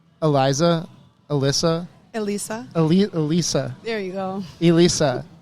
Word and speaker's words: Elisa: be it Elisa yep so I've seen the letter L and then Lisa El Lisa Elisa so you must have